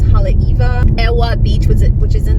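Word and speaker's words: Haleiwa: You have Halaiwa as Halaiva.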